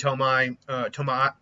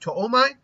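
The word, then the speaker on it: Tomoe: get to his second Tomai. I heard someone say it's not pronounced Tomai, it's pronounced Toomai, or Toimai. Not Toimai, I think it's Toomai. So I'm going to try to say Toomai.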